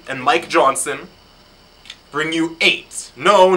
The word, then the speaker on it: Ei8ht: of Rafael Albuquerque and Mike Johnson bring you eight no not a eight H it's kind of